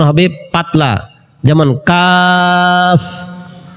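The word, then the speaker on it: قاف: Calf উচ্চারণ হবে পাতলা, যেমন কাফ। কফ উচ্চারণ হবে মোটা, কফ। কাফ কফ কাফ কফ কাফ কফ।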